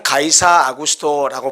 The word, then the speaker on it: 가이사 아구스토: 성경에는 가이사 아구스토라고 번역을 했는데 이것은 일반 세계 역사이나 사회에서는 카이사르 아우구스투스 이렇게 발음을 합니다.